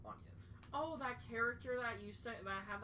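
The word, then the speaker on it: Agnès: And it was like, I mean, her name is Anya's, and it's spelled like Angus. It's Anya's.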